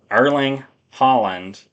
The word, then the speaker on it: Erling Haaland: Erling Haaland Erling Haaland, I'm sorry, that's how you pronounce his name.